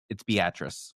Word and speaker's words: Beatrice: Yeah, it's Beatatric.